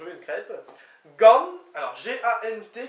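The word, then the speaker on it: gant: Gan, alors G-A-N-T qui se prononce gan en théorie, donc c'est avec, par, pour, ça fait plein de choses.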